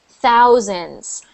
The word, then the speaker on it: thousands: So that one, it's so you have 10, then you have 100, and then you have thousands. Oh yeah, thousand. And again, that TH sound, thousands.